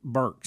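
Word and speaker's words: Birx: thing that that Dr is it bricks is how you say your name Burks Burks yeah that's right it's b r KS but she spells it b r iix she was referring to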